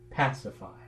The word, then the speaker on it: pacify: If we start with just the word pacify, it has first syllable accent, pacify.